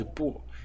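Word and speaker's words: 癶: So that's why I said unbelievably, and unbelievably because the pronunciation of this element over here is bo, and the pronunciation of the two pronunciations of this character are fa and fa.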